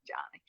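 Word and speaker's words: Joni: be a girl so it's j o n i but they pronounce it Johnny so her sister finally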